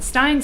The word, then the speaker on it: Stein: I get Steen all the time. Don't worry about it. At least I don't even like Steen. I like Stein. Stein sounds better.